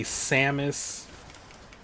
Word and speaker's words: Samus: Sus or Samus is a weird one, too, cuz you'll hear like some people say Sus Some say Samis.